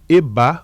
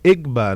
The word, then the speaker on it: Egba: povo EBA ou Egba, que na escrita é EGBA, né? E GB A. Mas aí na pronúncia africana esse G é mudo. Mas aqui no Brasil de algumas de alguma forma algumas pessoas começaram a reproduzir como Egba.